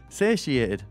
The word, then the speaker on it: satiated: can't say that sa satiation is it but saty satiated is how you say it but I've never